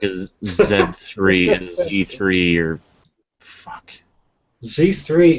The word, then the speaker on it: Z3: See, for that I prefer the Z because it rhymes with 3. Z3.